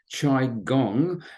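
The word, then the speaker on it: qigong: not familiar with it it's pronounced chi gong and was developed in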